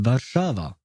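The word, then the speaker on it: Warszawa: Oh, it's pronounced Bashava. Ah, well, quite different from from the way we say it in English.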